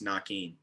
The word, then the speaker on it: Naquin: of the season was like no it's nakeen because his whole career that's what he's been called so he's just like